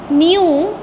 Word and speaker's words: knew: The merchant, merchant, the merchant quickly, Quick, quickly, knew, knew, K को हम नहीं पढ़ेंगे टू क्लास, K साइलेंट है.